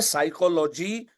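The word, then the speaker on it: psychology: हमें तो ऐसा लगा था कि साइकोलॉजी का स्पेलिंग एस से शुरू होता है।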